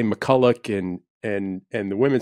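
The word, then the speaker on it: MacCulloch: whoa wait I said Todd did you say McCulloch or McCullough he goes I said McCulloch and I go wait we've always said your name McCullough he goes yeah well kind of the men in the family say McCulloch and and and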